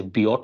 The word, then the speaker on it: Biot: This is the generic form of the Biosavert law, or some people also say Biot. I think Biot is the right pronunciation.